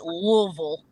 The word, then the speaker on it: Louisville: Got to say it right? Louisville. The Louisville game. So, Louisville. It's like one syllable or potato like for two that. syllables as opposed to three.